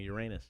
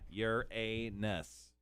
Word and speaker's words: Uranus: i can one more definitely uranus yeah you're a ness i put the uh the pronunciation into the chat case you're wondering y r dash e i dash in uhs according to the googs